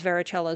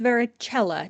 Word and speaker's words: varicella: Varicella also comes from the Latin for various, and it is pronounced varicella, not varicella. There is no soft C in Latin pronunciation.